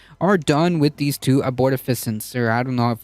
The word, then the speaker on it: abortifacient: done with these two abortifacients, or I don't know if I'm pronouncing it right. Here, Google, help me out here. Abortifacient. Abortifacient. There you go.